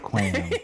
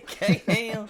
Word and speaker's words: Kham: Yeah, so Kham is how you pronounce it, right? Right, yeah, not K-Ham, Quam. Kham.